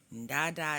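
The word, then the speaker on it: tata: molo Mama mola doctor Dada is actually spelled t-a-t-a instead of d-a-d-a even though it's pronounced with a D sound I didn't make up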